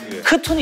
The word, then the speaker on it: C'Thun: 그때 이름은 순이고 지금은 크툰으로 발음이 바뀌었는데 크툰이 있었습니다.